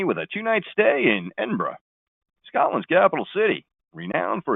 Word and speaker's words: Edinburgh: do you just say is it a pronounced Edinburgh similar to the way we pronounce Pittsburgh now only if you're a tourist and then there is also those who pronounce it as n borrow what's the sound like a local you can pronounce a capital city is Edinburgh or Edinburgh it'll begin your journey